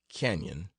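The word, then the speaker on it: Cañon: and up King's Cannon please pronounce Canyon after the manner of the natives there are ranches or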